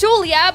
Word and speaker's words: Julia: Watch that movie and see how they pronounce the girl's name. That's my name. That's how you pronounce it. It's Sulia, but instead of Sue, it's Jew. Yes, Julia, but a bit.